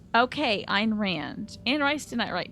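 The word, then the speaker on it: Ayn Rand: um and here's where I learned how to pronounce that author's name I Ein Rand okay Ein Rand and rice didn't I write Twilight now that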